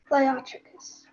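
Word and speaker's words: leiotrichous: Liotricus. Can I have the definition? Having straight, smooth hair. Are there any alternate pronunciations?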